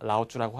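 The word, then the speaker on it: Laozi: 읽었을 때 네, 노자가 라오쭈라고 하네요 그래서 노자 노자고 노자 다 아시죠 어떤 분인지 중국의 유명한 철학자 중국을 그러니까 한자 대표하는 발음이 라우쥬라는 얘기죠. 네 그러니까 노자를요 중국식으로 발음하면 라오쭈고요 그러니까 그거를 그냥 그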